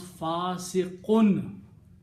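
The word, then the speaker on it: فاسقٌ: So you have to pronounce fasiqun and has to be written with two dhammas.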